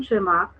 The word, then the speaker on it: Tschermak: इन 1900 three scientists that is 1, 2 and 3, Debris, DEVRIES, ठीक है, coherence, CORRENS, एंड वॉन ट्रिमार्क, VON, यहाँ पे T silent होगा, TSCHERMAK, ये 3 थे इन